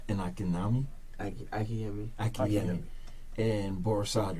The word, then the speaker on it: Borisade: You pronounce it Akinyemi? A-K-I-N-Y-E-M-I. A-K-I-N-Y-E-M-I. M-I. Okay. And Akinyemi? Akinyemi. Akinyemi. And Borisade, right?